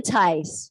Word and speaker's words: Tice: certainly made it fun tice rhymes with ice is inspired daily